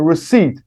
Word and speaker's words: receipt: must pay a receipt remember p is silent a receipt a piece of paper